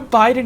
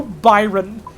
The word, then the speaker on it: Biden: Joe Biden and specifically he keeps mispronouncing Joe Biden as Joe Byron and and he starts